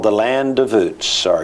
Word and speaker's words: Uz: This land called the Land of Uz, or UZ, or Uz, whatever depends on whether you're from Texas or the rest of the world is how you pronounce it.